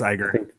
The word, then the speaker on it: Iger: So next up, Disney CEO Bob Iger. Hopefully I said that. I think it's Iger.